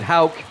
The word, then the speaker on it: Houck: The PA announcer pronounced it Houck. Tanner Houck. I always get it wrong.